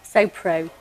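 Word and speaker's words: SoPro: sent me a logo so pro rhymes with GoPro and I think quite a lot of people know what GoPro is and branding and logos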